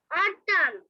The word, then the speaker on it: autumn: Autumn. অটাম না baby, অটাম, ঠা, অটাম বলো। Autumn. হ্যাঁ, ঠা এর উচ্চারণ হবে অটাম। হ্যাঁ, তারপর late. হুম, AUTUMN অটাম। টি এর উচ্চারণটা ঠা এর মতো হবে, ওকে?